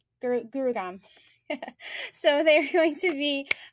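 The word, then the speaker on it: Gurugram: in um i'm going to say it wrong gurgaon gurugam so they're going to be hosting an awesome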